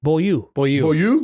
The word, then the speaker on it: Beaulieu: And then I think Boileau is going to, how are we pronouncing it this year? Boileau? Beaulieu.